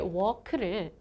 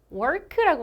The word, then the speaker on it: walk: 이 걷다라는 뜻의 walk를 work라고 말씀을 하세요. work 이렇게 발음을 하시는데 이 work의 발음 기호는 이렇게 생겼어요. 여러분 여기에 르 발음이 나는 발음 기호가 있나요? 없죠.